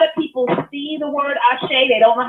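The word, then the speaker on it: àṣẹ: and a lot of people see the word ashay they don't know how to pronounce it number one and they don't know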